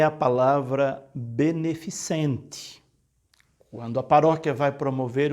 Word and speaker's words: beneficente: é um chá beneficente Esse é um evento beneficente não é beneficiente como as vezes algumas pessoas pronuncia então quando você for fazer um evento aí na sua Paróquia na sua comunidade tiver que escrever um cartaz colocar um aviso na missa Cuidado para não colocar beneficiente porque às vezes não descuido do comentarista de pode até ler beneficiente quando na verdade é beneficente de benefício outra palavra agora a